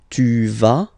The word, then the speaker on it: vas: Basically, you pronounce it like for the tu, because you don't pronounce the final S, okay? Il va, elle va, okay? Je vais, tu vas, il va, elle va.